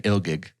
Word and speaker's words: Ilgig: The demon becomes the antithesis of Gigli, and I would be the demon Ilgig. Oh. Ilgig. Ilgig. Rhymes with real gig.